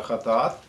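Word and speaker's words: חטאת: Четвертая – жертва за грех, правильно произносится Хатаат.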